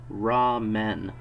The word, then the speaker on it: ramen: Something called raw men.